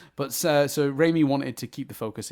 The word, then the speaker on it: Raimi: Octopus in a smaller role, but Sam Raimi, I combined Sam and Rami, the way I was pronouncing it incorrectly, into one word and got Sammy. But so Raimi wanted to keep the